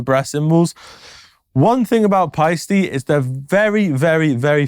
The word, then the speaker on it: Paiste: of symbol Brands so this is the pisty not paste the pisty 101 universal symbol